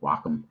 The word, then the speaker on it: Wacom: and walk them yeah i've always said wacom yeah apparently the guys at the company call it wacom welcome guacamole guacamole um